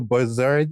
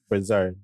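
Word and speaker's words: Brossard: You moved from Montreal to Bazard in in um Sorry. Um I said I pronounced it right. Bazard. Brasard. Brasard.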